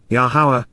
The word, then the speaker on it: Yahowah: of your name, Shemota, your reputation and renown, Yahowah, Yahowah, the proper pronunciation of Yahovah, our Eloah, God as directed